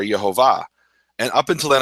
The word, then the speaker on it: Yehovah: is the glory of yahovah from his place and yahovah has the full vowels and the vowels are yahovah and up until then